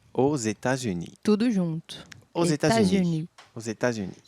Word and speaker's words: États-Unis: Os États-Unis. Os États-Unis. Vocês podem perceber que algumas coisas são pronunciadas, outras não, mas o som é esse, États-Unis. États-Unis.